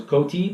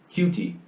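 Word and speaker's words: Coutee: I for the longest time thought I was Cote but it is pronounced cutie huh you know coupons are like that you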